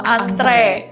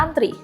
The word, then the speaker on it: antre: Apakah antre tulisannya antre tapi bacanya antri? Kalau sesuai ejaan bahasa Indonesia seharusnya tetap antre. Antre ya. Menarik. Mendengarnya atau mengatakannya tuh malah masih terdengar janggal. Padahal itu yang benar.